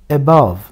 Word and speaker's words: above: sesle okunuyor ba alt Yani en baştaki kısımda a diye okunmuyor Şah sesi olarak okunuyor şva sesi olarak okunduğu için vurgu orada değil vurgu şuradır Yani nasıl okunuyor above above ne demek bu üzerinde